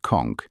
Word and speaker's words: conch: The conchk, pronounced conchk, is a massive sea snail housed in a spiral shell with a flared lip and polished pink interior.